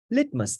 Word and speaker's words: litmus: is let must test the stress is good in the first syllable litmus test here it is